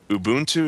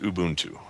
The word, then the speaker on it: Ubuntu: about anything Ubuntu related is it the liquid U or is it not is it Ubuntu or is it Ubuntu or what I've heard it pronounced Ubuntu I think that's right and I apologize for calling